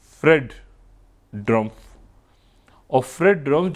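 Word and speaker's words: Drumpf: ड्रमफ यानी ट्र टी से नहीं डी से अब उसको जैसे भी आप प्रोनाउंस करना चाहे लेकिन ड्रमफ सही।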